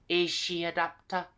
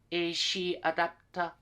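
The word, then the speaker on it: エーシーアダプター: the wall was similar is she adapter is she adapter okay so the C gets pronounced as she okay is she adapter but if you say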